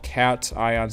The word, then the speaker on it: cation: These are called cat ions. C A T I O N. Pronounced cat ion.